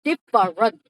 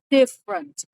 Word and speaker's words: different: You say okay different. We don't say different. We don't say different. We say different. Different. No far, no r in the middle of the word.